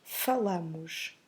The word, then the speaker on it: falam: So as you can see, the stress is on the first syllable. And then we make a nasal sound at the end. So we have falam.